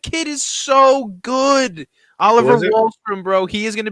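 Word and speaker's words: Wahlstrom: how do you say his name is oliver wallstrom in that it's a keeper dynasty lee get wallstrom bro he's how do you spell his name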